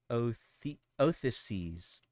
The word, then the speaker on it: Odysseus: Ulysses is the Latinized name for the Greek hero Odysseus. What the fuck? Odysseus? Or what? Odysseus. What? Modern Greek, it is pronounced Othyses.